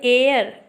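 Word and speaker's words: heir: फिर ये भी यहाँ पर भी एच साइलेंट रहता है, इसको पढ़ते एयर, ए, जो एक स्वर है इसीलिए यहाँ पर क्या लगा, एन।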